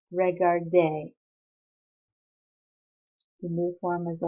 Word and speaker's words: regardait: And for il, elle, on, it becomes AIT, but pronounced the same way, so il regardait.